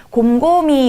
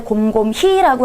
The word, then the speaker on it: 곰곰이: 곰곰이. 우리 발음할 때 곰곰히라고 하지 않고 곰곰이라고 하죠.